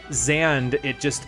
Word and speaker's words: Xande: So Xande, it still keeps that trend of having the emphasis on the first syllable, but then it's just one syllable, you know?